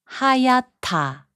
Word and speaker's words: 하얗다: 하얗다, which means white, is pronounced as 하얗다.